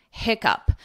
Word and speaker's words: hiccup: pronunciation up, up, hiccup, hiccup. But this double C is still confusing because it's pronounced as a k, hic, hiccup, hiccup.